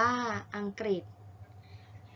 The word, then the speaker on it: อังกฤษ: ศุกร์ ม.ค ม 6 ทำ ที่ ออก เสียง ริ เช่น สัมฤทธิ์ อ่าน ว่า สัมฤทธิ์ อังกฤษ อ่าน ว่า อังกฤษ ทฤษฎี อ่าน ว่า ทฤษฎี